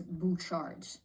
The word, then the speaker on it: Bouchard: As this just confirmed my suspicions that this is indeed, this last name has a French origin, and it's pronounced as Bouchard, or even Bouchard.